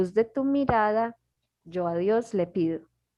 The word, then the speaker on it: mirada: This word mirada, because it's M-I, and for us, I is always tense. E, mirada.